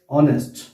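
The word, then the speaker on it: honest: अब ये जो है ये एच से शुरू हुआ है ये वर्ड, और इसका जो प्रोनाउंसिएशन है वो है ऑनेस्ट।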